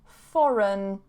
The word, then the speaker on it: foreign: not foreign, and then foreign, foreign, foreign. So here, be careful, it's like this, foreign, okay, with a schwa, foreign. I hear foreign a lot, not foreign, foreign, really weak on that second syllable.